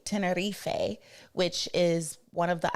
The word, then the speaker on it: Tenerife: It sailed from San Juan, Puerto Rico, and we visited Santa Cruz de Tenerife, or let me say it correctly, Tenerife, which is one of the islands of the Canary Islands.